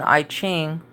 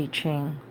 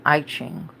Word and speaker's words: I Ching: Self had told me the itching which I guess is pronounced I Ching so I know a